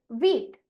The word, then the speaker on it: wheat: तो इसीलिए इस शब्द का उच्चारण हम करेंगे वीट।